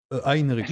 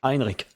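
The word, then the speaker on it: Heinrik: Heinrich. Henrik. Heinrich. Ah oui d'accord. Très allemand la prononciation.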